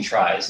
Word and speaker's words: trie: And I pronounce it tries just because it's confusing with trees, so you can pronounce it however you want.